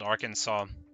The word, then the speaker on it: Arkansas: Not least, so I'm like I'm from a state in uh the US called Arkansas, which is spelled with like a silent s at the ends and stuff because of French.